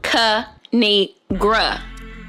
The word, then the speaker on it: Kinigra: me tell y'all a thing of three it's pronounced kanigra now subscribe I crack myself up thanks for